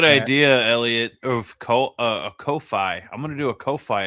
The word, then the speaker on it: Ko-fi: Is it Throw a Kofi message or in there. coffee? No, it's Ko-fi. Ko-fi.